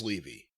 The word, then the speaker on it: Levy: Yeah, everyone I know with that name, and I grew up around a bunch of kids. It's Levy. That they were at least pronounced Levy.